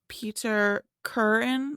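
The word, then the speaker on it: Peter Kürten: because I'm pretty sure it's pronounced Peter curtain like curtain but I was going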